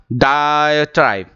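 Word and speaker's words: diatribe: डायट्राइब ध्यान रखिएगा मैं प्रोनाउंसिएशन कैसे बोल रहा हूं. मैंने इसे लिखने की भी कोशिश की है इन आईपीए. डाय DAI डाय डायट्राइब. डायट्राइब.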